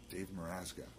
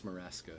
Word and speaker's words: Meraska: Dave Meraska. No, yeah, well, you can pronounce it that way. That's just my Facebook spelling. How do you pronounce it? It's Meraska.